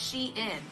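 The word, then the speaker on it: Shein: Today we're going to be testing the iconic brand called Shien, which they finally tweeted out the other day that it is pronounced sheen.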